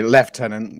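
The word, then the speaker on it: lieutenant: um winter you're British it's not pronounced like that it's pronounced sorry left tenant yeah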